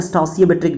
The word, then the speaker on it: stoichiometric: इसे इसका प्रोनाउंसिएशन कह सकते हो स्टोसियोमेट्रिक डिफेक्ट, ओके। स्टोसियोमेट्रिक है, स्टासियोमेट्रिक भी बोलते हैं कितने लोग, है ना।